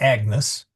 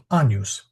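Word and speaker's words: Agnus: It's not Agnes although the um the name Agnes uh is uh comes from the Latin Agnes but we pronounce it anus.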